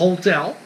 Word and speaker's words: hotel: temos, por exemplo, hotel, você vai falar hotel, o H não é mudo.